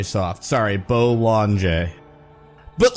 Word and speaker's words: Bollinger: DM me about it Bolan bolt bow lon J but the J is very soft sorry Bowl on J but like what are